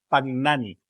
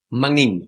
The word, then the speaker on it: Magnin: Y hoy tenemos un super invitado, que es Pagnani. ¿Sí? ¿Está bien pronunciado? Magnin. Eso, Magin, dice Magnin.